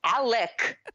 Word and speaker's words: Alec: Alec, not Alex. Alec. By the way, could we start a drinking game and we could drink every time Ali Sheedy's character says Alec? It's very, very with a hard C.